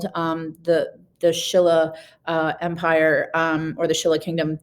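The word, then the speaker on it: Silla: And the Shilla, that's how you would have pronounced it, like with an SH, the Shilla was the most powerful of the three kingdoms.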